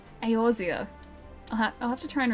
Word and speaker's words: Eorzea: It's pronounced Eorzea? Really? I've always pronounced Erzea. Eorzea.